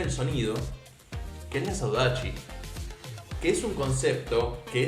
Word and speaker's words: saudade: entender lo que es la saudachi para mí se escribe saudade si no me equivoco